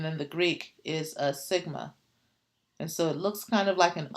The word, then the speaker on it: sigma: So now what I want to do is this symbol, I want to explain, here's how you pronounce it, sigma.